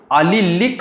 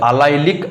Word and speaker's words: allylic: उसके बाद अगर हम देखेंगे sp3 कार्बन एंड X, तो उसे हम नाम देंगे अलिलिक हालाइड्स, AL, या फिर उसे अलाइलिक हालाइड्स भी बोल सकते हो आप, जो चाहे आप नाम दो, स्पेलिंग तो यही आना चाहिए, ALLYLIC।